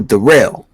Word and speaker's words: Daryl: Daryl not hey yo derell hey yo der my name's derell it's spell like Daryl let's pronounce derel holy